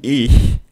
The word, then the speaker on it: ich: Você vai fazer o CH da palavra cachorro, né? Que é o chiado, o sh, só que não com a língua solta. Você vai travar ela atrás dos dentes de baixo, tá?